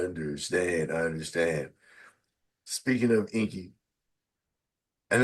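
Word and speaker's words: Ingi: I understand speaking of Inky and it's it's spelled i n gii but it's pronounced Inky yeah the G sound like K's okay okay so I'm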